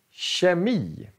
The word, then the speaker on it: kemi: Ja, K:et blir sh. Så vi säger kemi, kemi.